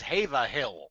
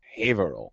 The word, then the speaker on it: Haverhill: it's that asshole who told us how to pronounce this town's name. I looked it up in the town charter, and it says Haverhill.